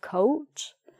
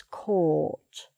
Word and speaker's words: caught: You don't have to try to make AU coat, coat. Some people try to say coat, but it's not, it's caught.